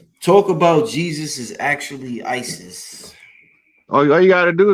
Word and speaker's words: Iesous: In the Greek pronunciation, the capital I automatically silences the E, goes hard on the S, silences the O, go hard on the US. It's ISIS. One language back.